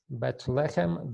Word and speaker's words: Bethlehem: Bethlehem, the accent is on the first syllable, Bethlehem.